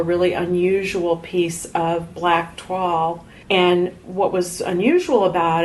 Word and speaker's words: toile: Oh, so what's it? TWOLL? It's TOILE. Oh. See, I was calling that tulle.